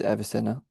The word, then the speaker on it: Avicenna: And so he says, thus begins his treatment of the visionary recitals of Avicenna, I'm not sure how to pronounce it, Avicenna, and Surawadi. It is Avicenna.